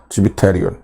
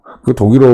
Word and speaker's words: Zwitterion: Jadi ketika Anda membacanya dalam bahasa Jerman, Anda menyebutnya Zwitterion. Zwitterion Orang Jerman seperti ini.